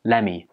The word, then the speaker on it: lemme: think this means well this one is a contraction of let me again look here the top sound at the end of let gets dropped and it just becomes lemme lemme is much easier